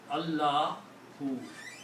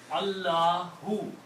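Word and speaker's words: الله: And the correct pronunciation of this is Allahu. The full name, the correct pronunciation is Allahu.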